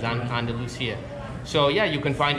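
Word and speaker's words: Andalucía: Con C, yes, but not with S. So Andalusia, you spell it, right? Mm-hmm. Yeah. Okay, because in English they say Andalusia. Yes. So this is the Spanish spelling, it's Andalusia.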